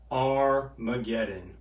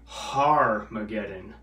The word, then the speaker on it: Armageddon: at the place that in hebrew is called armageddon or accurately pronounced in greek harmageddon mount magetto so john saw a few things